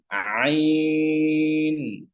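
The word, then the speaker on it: عين: স্বরচিহ্ন অবস্থায় আচ্ছা এরপরে আইন আইন আইন গলার মাঝখানে আওয়াজকে একটু চাপ দিয়ে আইন আইন আচ্ছা হরফটা একটু ভেঙে দেই কিভাবে আইন হলো আইন ইয়া এবং নুন এখানে তিনটি হরফ মিলে আইন হয় কেমন আইন ইয়া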